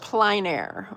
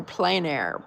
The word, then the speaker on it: plein air: Evie says that she wants to paint outside in nature, otherwise known as, I think it's pronounced plein air or plein air painting.